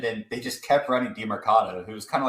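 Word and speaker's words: Demercado: Yeah, Emari DiMercato.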